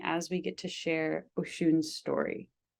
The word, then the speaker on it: Oshūn: The pronunciation of my name. Yes. It is actually Oshūn.